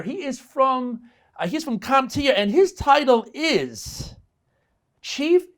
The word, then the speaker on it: CompTIA: first question who is comptia and is it pronounced comptia or comp tia there's always confusion about there is that's a good one it's comptia so thanks for asking